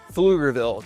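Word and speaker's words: Pflugerville: Now, number seven on my list of the top eight Austin, Texas suburbs is Flugerville, Texas. And that's spelled with a PF.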